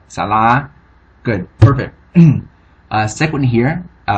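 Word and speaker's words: សាលា: That means that the L, the second series consonant, will be pronounced as a first series consonant. Alright, so the vowel will be pronounced as a first series vowel, or as it would be with a first series consonant. Alright? So thus you have salah.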